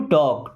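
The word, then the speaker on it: talk: आई हैड टू टॉक। टॉक का मतलब बात करना। एल यहां पे साइलेंट है।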